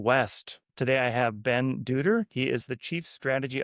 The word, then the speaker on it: Dutter: I'm I'm Ben Dutter. It's like butter with a D, I always say.